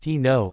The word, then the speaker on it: Pinault: Jeanette Pinault, pronounced Pinot, is 22 and from France.